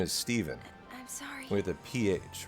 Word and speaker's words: Stephen: Stefan s-t-e-p-h-e-n you're here it's pronounced Stephen most of the time although a lot of people will um decide to go with Stefan you know it can go either way it's kind of 50 50.